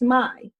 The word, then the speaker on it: May: Her name was May, pronounced Mai.